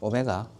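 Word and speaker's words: ω: w라고 읽지 말고 뭐라고 읽자고? 오메가.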